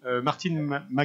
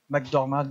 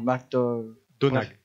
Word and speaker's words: McDonagh: Ouais, c'est Martin McDonagh. Je parle pas anglais, donc. McDormand, c'est comme ça. Non, McDonagh.